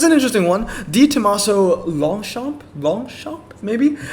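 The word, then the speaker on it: Longchamp: interesting one the tomaso longshot long shot maybe it's definitely not long champ i know a lot of americans would probably say long champ i've heard a lot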